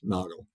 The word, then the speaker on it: Nagel: I said you know it's it's kuna and Nago Two Gentlemen that founded the company originally yes